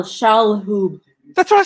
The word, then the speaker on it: Shalhoub: Shahoob. There's an L. Shalhoub.